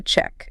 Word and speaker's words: cheque: In the UK, it's spelled CHEQUE, a check, a check. He paid by check. Check. Looks a bit French. But in the US, same sound, tiek, but spelled CHECK, a check.